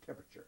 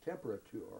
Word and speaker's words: temperature: And it was never temperature. It'd drive him nuts if somebody said temperature. Uh-huh. You had to say temperature.